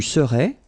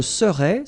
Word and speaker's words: serais: And then être, je serais, tu serais, il serait, elle serait, nous serions, vous seriez, il serait, elle serait. Okay, so we'll see that one more time. Je serais, same thing here, final S not pronounced.